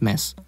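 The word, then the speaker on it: Mads: you're thinking to yourself why are you saying matt's wrong then congratulations to you you've just learned how to probably pronounce mess just kind of ignore the d anyways mess is portraying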